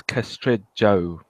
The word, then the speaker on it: Castrejo: probably gonna butcher this a Castro huh it's castrate Joe but you can call me Carlos a caster